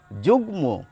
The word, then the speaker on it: যুগ্ম: দেখুন শব্দটি যুগ্ম, গয়েরও উচ্চারণ পাচ্ছেন, ময়েরও উচ্চারণ পাচ্ছেন।